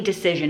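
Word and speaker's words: Dacyczyn: The tight wad Gazette by Amy Decision is how you pronounce her name.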